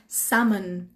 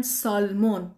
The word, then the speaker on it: salmon: ماهی هست به اسم salmon. salmon. salmon. من از خیلی ها شنیدم میگن سالمون. در فارسی ممکنه میگن سالمون، ولی اینجا میگن salmon. ل تلفظ نمیشه.